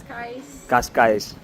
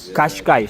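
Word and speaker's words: Cascais: Lovely बीच इनका काशकाइस the pronunciation is कास्का। कशकाइस कशकाइस बट वी are Brazilian so are Portuguese from Brazil.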